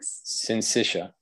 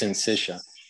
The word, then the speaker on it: syncytia: How do you say that word? Syncytia. I think it's pronounced syncytia. Syncytia.